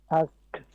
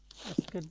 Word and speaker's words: asked: Abid, Abid, আস্ট, আক্সড, asked, asked, আস্কেড না, এই উচ্চারণটা হবে এই আস্কড, কি আস্কড মানে ক উচ্চারণ হবে কিন্তু গালের ভিতরে।